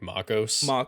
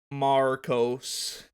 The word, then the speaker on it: Marcos: um the american accent brady doesn't pronounce like the the ar in my name he says it like macos you know yeah like can you say it correctly marcos now say it correctly